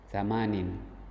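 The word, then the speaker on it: ثمانٍ: Ah, tadi di angka yang e muzakar sebelumnya kita menyebutnya membacanya samaniatun. Jadi, ta dan ya dihilangkan diganti dengan tanwin bawah ini. Tsamanin tisun asyrun.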